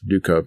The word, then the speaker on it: Duckov: Um, but I uh had saw a lot of internet meme around this uh this Dukeov game.